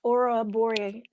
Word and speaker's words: Ouroboros: And Nina says I did pronounce Ouroboros.